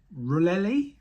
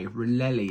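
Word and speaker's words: Rollei: this make before um rullelli is that how you pronounce it r o l l e i really is how I'd say um it's a really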